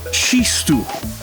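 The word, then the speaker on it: txistu: accordion a tambourine and an ancient Basque flute pronounced she stool the Basque meaning the chosen people come from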